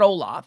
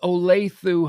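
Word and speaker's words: Olathe: outside of kansas missouri olaf is pronounced okay so it's not olaf it's olathu high school and uh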